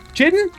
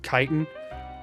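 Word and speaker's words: chitin: Chitten. Chitten. Chitten. Small antlers and chitten. Huge. I believe it's pronounced kitan.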